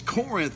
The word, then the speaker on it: Corinth: had here in key pronouncing it wrong yeah it's Corinth Mississippi right now we